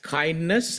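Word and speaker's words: KINDNS: So it is pronounced as kindness and that's the full sort of expansion of the acronym.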